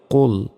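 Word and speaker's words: قُلْ: লাম পেশ কুল কুল মোটা করে উচ্চারণ হবে কুল আমরা অনেকে বলি যে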